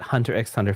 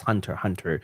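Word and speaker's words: Hunter × Hunter: always I've always said Hunter x Hunter for the longest time until like someone corrected me he's like uh actually is Hunter Hunter there's no the X is not pronounced I was like well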